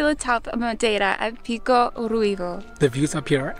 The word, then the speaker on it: Pico Ruivo: There's still 3.9 kilometers in order to get to Pico do Ruivo. I think we pronounced that wrong at the beginning. It's Pico Ruivo.